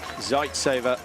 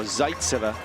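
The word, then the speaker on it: Zaitseva: zeit's over or zeitzer we should say the emphasis on the penultimate uh syllable oh I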